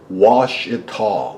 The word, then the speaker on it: Ouachita: diamonds is just below the line of the Washita mountains oh that looks like al Qaeda or something but it's pronounced wash it tall Ouachita Mountains right between the Ouachita Mountains and we're